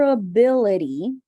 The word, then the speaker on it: ability: uh uh ability ability it's not at right it's closer to ah but it's like a very super relaxed off right so uh uh ability ability yes and you said this sound correctly without me teaching you so this is called the flap T sound did you notice guys